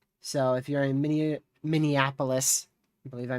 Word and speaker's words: Minneapolis: Tornado warning continues into Minipolis. Let me mute this. So, if you're in Min Minneapolis, I believe I mispronounced that just a second ago.